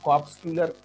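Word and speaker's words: corpuscular: Mean cell या कॉर्पस्क्यूलर, मैंने बताया था कि प्रॉपर इसको कॉर्प्स आर साइलेंट होता है, इसको कॉर्पस्क्यूलर भी कहते हैं, CORPUS, कॉर्पस्क्यूलर, CULAR, आर साइलेंट होता है तो इसको कॉर्पस्क्यूलर पढ़ते हैं।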